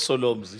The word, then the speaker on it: Solomzi: Solomzi. Why'd you say it like that? Solomzi. No, I introduced myself as Solomzi. So, yeah. It's like to Solomon.